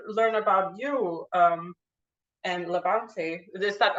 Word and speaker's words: LaBante: I'm interested to learn about you um and Levante is that how you pronounce it that's right yeah that's right so